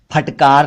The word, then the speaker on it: फिटकरी: फिर कुछ और शब्द हैं जैसे फटना, फाड़ना, फट गया, फिटकारना, फटकार लगाना, फिटकरी। अक्सर लोग इसे फिटकरी कहते हैं, गलत उच्चारण है, फिटकरी बोला करें, फिटकरी।